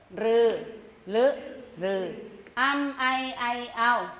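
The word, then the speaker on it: ฦ: เท่า กับ ตัว ร ตัว ลึ ลึ เป็น เสียง ข้าง ลิ้น นะ คะ ลม จะ ออก ข้าง ๆ แก้ม นะ คะ อ่ะ ก็ คือ ลึ อ่ะ อำไอ ไอ เอา รึ รือ ลึ รือ อำ ไอ ไอ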